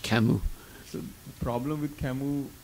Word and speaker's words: Camus: It looks like Camus in English, but you pronounce it in French Camus.